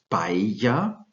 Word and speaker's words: paella: the king for pronunciation Double L in the Spanish language is pronounced I'm pretty sure most of you know that examples are the world famous rice dish from Spain this is paella with two L's and